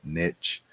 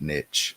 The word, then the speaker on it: niche: dusty he pronounces it niche like and if you look it up it has both pronunciations niche or niche so it's like caribbean